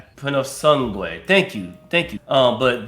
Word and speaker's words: Purosangue: We got I cannot pronounce that Purosangue. Purosangue. Purosangue.